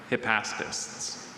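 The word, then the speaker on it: hypaspists: Hippastpists.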